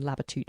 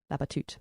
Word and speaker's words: Labatut: an author whose name I found out you pronounce not Benjamin labateude but Benjamin babatut he's from Holland and